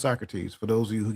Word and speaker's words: Socrates: See Socrates and it is pronounced Socrates for those of you who get ner say so crates.